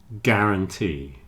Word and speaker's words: guarantee: Guard and guarantee have a hard G and you don't pronounce the U. Guard, guarantee.